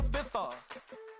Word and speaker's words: Ibiza: Yeah, it's pronounced Ibiza, actually.